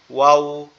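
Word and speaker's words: واو: এটার উচ্চারণটাও সহজ, আমাদের ঠোঁট দুইটা গোলাকৃতি হবে, হয়ে উচ্চারণ হবে ওয়াও ওয়াও এরকম ভাবে, ঠিক আছে।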